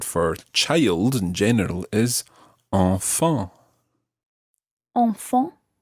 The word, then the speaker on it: enfants: And the word for child in general is enfant. Enfant. Enfant. Enfant. That's a good word for practicing your nasal sounds. Enfant. Enfant. And the plural of this, the word for children, sounds exactly the same,